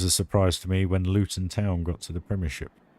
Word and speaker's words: Luton: um yeah water um Luton luten that's how you that's how you're supposed to say it if you're from Luton